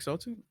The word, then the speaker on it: Celtic: Yeah, I see, guess they we'll still go got to the Celtic, Irish. The mythology. Celtic. Yep. Could also So go to yeah. China Isn't as that the same well. thing? It's either Celtic Celtic.